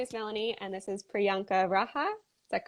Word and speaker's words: Priyanka Raha: uh my name is melanie and this is priyanka raja is that correct yes correct okay fantastic i